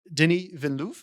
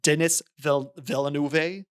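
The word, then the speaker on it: Villeneuve: So, Denny Velou, even though it looks like Dennis Villanu.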